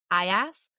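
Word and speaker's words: Aias: Alas, C is or Ajax, which is despite having an X sound, it is spelled A I A S. Is that uh this one's kind of a hard one to do auditorially. Sorry. Is it Aas or Ajax, the Trojan War hero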